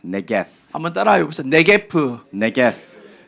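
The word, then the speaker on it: נגף: Let's look at the root word of disaster, which is pronounced negev.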